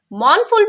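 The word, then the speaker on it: mournful: हो मां पर मोनफुल मोनफुल में आर जो है वो साइलेंट है तो आपने आर को जो है वो प्रोनाउंस नहीं करना मोन-फोर का मतलब होता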